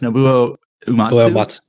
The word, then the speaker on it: Nobuo Uematsu: How do you pronounce his name? Like, I know you can read it all the time. It's Nobuo Uematsu.